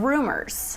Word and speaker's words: RMRS: It's called feedback rumors. Rumors. And it's spelled it's not spelled out rumors. No. RM RM RS. RS.